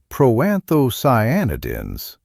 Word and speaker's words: proanthocyanidins: The seeds contain proanthocyanidins pronounced pro-anthoscyanidins which are powerful antioxidants that support blood vessel flexibility.